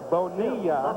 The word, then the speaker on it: Bonilla: Bonilla, LL in Spanish, is pronounced like a Y.